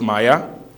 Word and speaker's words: MIAI: groundbreaking features which is Maya by vti pronounced Maya and safe luck by